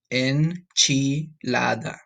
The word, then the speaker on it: enchilada: Enchilada. All right, that's how you say it in Spanish. Enchilada.